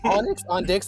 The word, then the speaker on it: Onyx on Dix: It's exactly how it sounds. Onyx on Dix, like on the dicks?